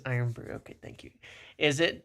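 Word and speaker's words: Irn-Bru: um pronounced as iron brew.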